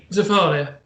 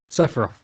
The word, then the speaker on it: Sephiroth: Zephyria. Sephiroth. Sephiroth. At least try to say it right.